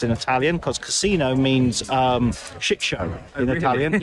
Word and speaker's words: casino: pronounced in Italian, because casino means shit show in Italian. Yeah. So it's very important, the intonation, casino, rather than casino.